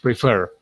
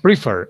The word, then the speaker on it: prefer: There is another word, for example, the word prefer. Happens the same thing. It's not prefer, it's prefer. So in this case, you have to double the R and ED.